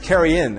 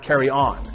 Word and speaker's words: carrion: Note that carrion is pronounced carry-in and not carry-on.